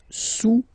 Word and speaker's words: sous: Le cube est sous le cylindre, okay, le cube est sous le cylindre. Don't pronounce the final S, and then this OU combination of vowels is pronounced OU, okay?